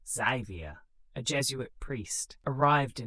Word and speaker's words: Francis Xavier: Francis Xavier, pronounced Xavier, a Jesuit priest, arrived in 1549.